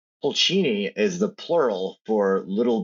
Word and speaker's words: Pulcini: Pulchini, welcome to the podcast.